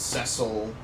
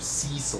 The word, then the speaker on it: Cecil: these names very easily so it's sessile instead of cecil which is what I originally thought it was I think it's really